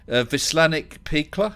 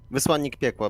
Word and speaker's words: Wysłannik piekła: And we've got another person in there, Vislanik Pikla. Is that how you say it? Oh, almost correct. Almost. Go on, tell us how it is. Please repeat. I said Vislanik Pikla. Yes, almost correct. Wysłannik piekła, but it's in Polish.